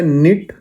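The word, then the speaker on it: knit: फिर है निट। निट मतलब बुनना होता है। यहां पे के साइलेंट है।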